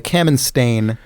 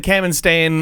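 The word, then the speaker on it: Kamenstein: i n ah The Camin yes some some of you might have grown up knowing it as the cam stain uh paper tow paper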